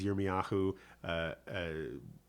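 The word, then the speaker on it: ירמיהו: know, Isaiah is Yeshayahu, Jeremiah is Yirmiyahu, Ezekiel is Yehezkel, and so we have a few things like that.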